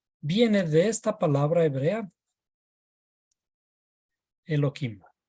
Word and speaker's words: Elohim: de esta palabra hebrea, Elohim. La palabra hebrea Elohim se debería pronunciar más suavemente porque aquí hay una letra G, pero nosotros tratamos de